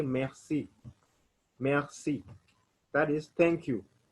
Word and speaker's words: merci: r c i so remember whenever we have r we'll pronounce it like kh so i'll say merci you swallow the r merci that is thank you